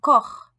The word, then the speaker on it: Koch: Der Koch, le cuisinier. Der Koch, le cuisinier. Das Buch, le livre. Das Buch, le livre. Der Brauch, la coutume. Der Brauch, la coutume. Der Bach. Der Koch.